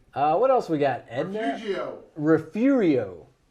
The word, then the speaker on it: Refugio: Refugio. Or for the folks down in the coastal bend, southern end of Texas, Refugio.